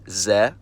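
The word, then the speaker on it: З: It's called ze, and it takes the sound of the English letter z.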